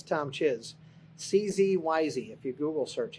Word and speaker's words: Czyz: It's Tom Czyz. CZYZ if you Google search it. So don't misspell it because bad things come up.